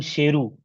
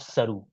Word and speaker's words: Sheru: got to know that he mispronounced his own name as a child, as his biological parents named him Sheru, meaning lion, not Saru.